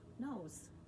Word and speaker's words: nose: begins with n so and then a silent e the e does not make a sound and the o makes a long o sound so o's nose again you can cross